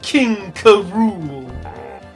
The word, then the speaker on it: King K. Rool: It's King K. Rool. Because that's how they say it. Really cool. Because that's how they say it in the Donkey Kong Country cartoon.